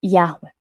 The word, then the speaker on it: Yahweh: Provavelmente pronunciado algo próximo a Yahweh.